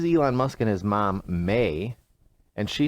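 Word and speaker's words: Maye: mean Elon Musk mother may Musk and I'm saying may m-a-y-e I think that's how you pronounce it yeah has uh some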